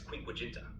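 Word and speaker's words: quinquaginta: 10 in ancient Rome they would pronounce X10 as desm in Latin and l50 as quink quenta all right thank you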